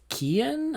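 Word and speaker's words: Keoghan: email i don't think apparently you don't pronounce the g it's kian i don't know apologies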